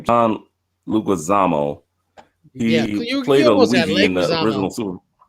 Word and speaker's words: Leguizamo: I always mispronounce this guy's name. John Leguizamo.